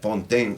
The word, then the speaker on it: Fountain: No, pero what I was gonna say is that she, I mean not her, but just our audience in general pronounces my name Fountain like that, Fontaine.